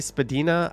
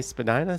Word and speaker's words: Spadina: me something to do you say spadina i say spadina still a great street to walk spadina north of bloor spadina south of bloor get with the program anyways this is the